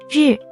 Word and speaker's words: 日: To pronounce this notation, clench your front teeth. 日日日日 This word is the 4th tone, so it should be 日 The origin of this character.